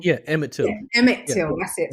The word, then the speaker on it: Emmett Till: Oh, is it Nimit Till? I've said it wrong. Yeah, Emmett Till.